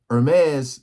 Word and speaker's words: Hermès: But they're saying that the Hermès, I always pronounce this wrong. I be wanting to say that H, but that H is silent. Hermès finally sues Chinese manufacturers after this is getting out of control.